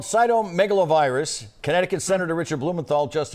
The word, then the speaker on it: cytomegalovirus: You did a great job with the pronunciation. It's cytomegalovirus.